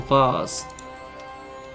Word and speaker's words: vase: you'll lose teeth Detective you prounce it vase or vase I'm a vas man myself same a painting of